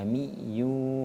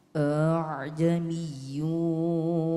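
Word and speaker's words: أعجمي: Tapi perlu diingat itu salah juga kalau kita bacanya a jadi a a jamiyu wa arabi tidak boleh dibaca aa ini seolah-olah mati hurufnya ya aamiyu wa arab ulangi lagi.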